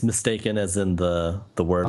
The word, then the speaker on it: Mystakin: So okay, now I got it, because it's like mistake. We would say like mistaken in England. So I'm just learning. So it's mistaken, like that.